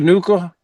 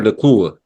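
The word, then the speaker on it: Nacua: Um, I can never say his name right, but Puka Nuka, uh, their Uh wide Puka receiver, Nakua.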